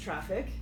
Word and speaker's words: Traefik: spelling that's somewhat misleading it's pronounced traffic yes it is pronounced traffic just like air traffic controller okay so can you